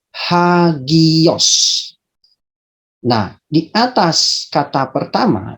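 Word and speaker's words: ἅγιος: Ada tanda khusus untuk menunjukkan di mana terdapat pelafalan H dan di mana tidak. Perhatikan kedua kata ini, yaitu akowo. Di sini tidak ada tanda untuk dibunyikan atau hembus. Tetapi ada di dalam kata hagios.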